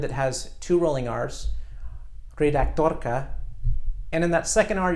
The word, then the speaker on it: redaktorka: a Czech word that has two rolling R's great actor coca and in that second are you can really hear that are click great dodoka keep practicing you're rolling are starting with the